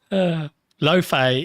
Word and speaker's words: Laufey: Laufey is consistently given as the standard pronunciation.